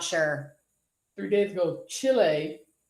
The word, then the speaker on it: Chile: sure three days ago chile not chili chile passed american equality